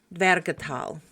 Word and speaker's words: Dvergatal: Two main characters appear at the beginning of this catalog within a section of verses called the veratal and that's spelled d v e r g a t a l.